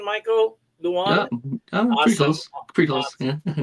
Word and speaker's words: Leung: Is that the right pronunciation, Michael? Leung?